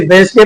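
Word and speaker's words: Wednesday: गया हो for example वेडनेसडे होता है लेकिन वेडनेसडे पढ़ते हैं हैंडसम लिखा होता है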